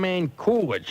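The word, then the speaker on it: Manculic: up in Ville and his name's man kolich I believe that's how it's pronounced m a n c u l i c the kid was amazing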